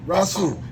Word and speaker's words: RA-SOOL: Now, am I saying that right? Yeah, you saying it right. It's RA-SOOL. RA-SOOL.